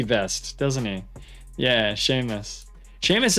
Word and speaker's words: Seamus: Seamus is a weird spelling. It's spelled like that. And it's very impossible to know that that's how you would pronounce that term if you just saw it written.